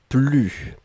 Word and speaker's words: plus: ne et ensuite plus et là on ne prononce pas le s ne plus d'accord je n'en avais